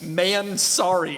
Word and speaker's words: Mansory: And he refers to Mansory, the company that makes horrible body kits, only as Man-Sorry. And No, Okla, that is how Mr. Mansory himself pronounces it.